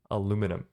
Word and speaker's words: aluminium: Aluminium. Aluminum, as the Americans say.